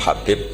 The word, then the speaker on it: Habib: yang nulis Abi Abdurrahman Habib assulami itu di harakatnya kitab itu ada yang nulis khubb tapi yang benar Oh gigih yang benar itu bacanya habib habib itu asulami itu ikut